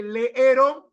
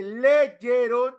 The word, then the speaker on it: leyeron: ¿No es cierto que leyó leyeron proviene de leer y no debería decirse leeron? Leó, pero no se dice león ni leeron, se dice leyeron y leyó. Se inserta la y.